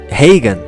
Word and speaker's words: Reagan: Ronald Reagan, o sobrenome pronuncia-se Reagan. Donald Reagan, o sobrenome pronuncia-se Reagan. Dois sobrenomes idênticos quando escritos, muito diferentes ao serem pronunciados.